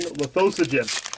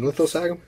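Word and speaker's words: Lithosagym: You mean Lithosagum? No. What is Lithosogen? That's his name, Lithosogen. That's how you pronounce it. It's not Lithosagum, it's not Lithogasm. It's not Gotchigasm.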